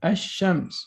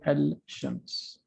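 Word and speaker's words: الشمس: and we miss we we're not going to pronounce the lamp and we go directly to the sheen we say hashems we don't say al-shams okay you got it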